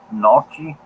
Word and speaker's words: gnocchi: Gnocchi? You like it, Jack? I bet you do. Nucci? Nachi? Nachi? Yeah, gnocchi. I think the G is silent. Yeah, gnocchi. Not Nochi.